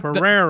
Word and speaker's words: Pereira: Pereira. Think about Pereira. Think about pa, and then the way we like steak, rare.